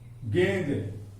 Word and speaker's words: गेंद: गेंद, गेंद बोलते हैं गेंद, जब हम गेंद बोलते हैं तो गे के साथ हल्का न का उच्चारण होता है।